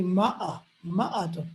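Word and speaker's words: مائة: in the Arab world, they don't say mi'atun, they say ma'atun, the fatha on the mim.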